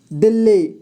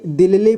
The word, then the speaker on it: दिल्ली: इसे देखिए दोस्तों, कुछ लोग इसे क्या करते हैं कि दिल्ली पढ़ देते हैं, ठीक है। या फिर कुछ ऐसे शब्द होते हैं जिन्हें वो 2 बार उच्चारण कर देते हैं, लेकिन वैसा नहीं करना है, इसे दिल्ली पढ़ना है एक ही बार में, ठीक है, दिल्ली।